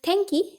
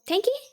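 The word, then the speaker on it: 天気: This is tenki, which means weather. The first kanji is the one which you have in heaven. And this is the kanji which you see in like air. So tenki, remember this, okay?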